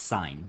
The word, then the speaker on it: sine: two this one is y equals sine pronounced like that spelled like that it's sign not sin it's not the thing that you get